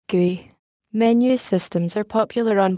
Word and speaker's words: GUI: O window systems, or graphical user interfaces, GUIs, pronounced GUI.